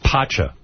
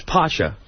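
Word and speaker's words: Pacha: So, it's this Friday night from 6:00 to 11:00 at Patcha. P A C H. Is that how you say it? Or Pasha? It's Pasha. Pasha. Pasha.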